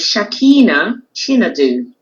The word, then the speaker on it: Shakina Chinedu: It is Shakina Chinedu. Thank you. Shakina Chinedu. Chinedu. Yeah. So Shakina. I'll help you a bit. If you say Chi and then Nedu, Chinedu.